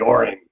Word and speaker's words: Orion: The Orin plant. Um, accent on the first syllable, not the second. Um, this the the Orian plant is one that was set up to produce the subcompact sonic in the US.